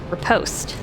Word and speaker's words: riposte: Now we have what I would like to call, because I pronounce it correctly now, riposte.